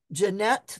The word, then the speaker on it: Janet: Breuer, Jones, Martin, Rivers, Hollingsworth, which there we even have Dr. Janet, pronounced Jeanette to rhyme with yet.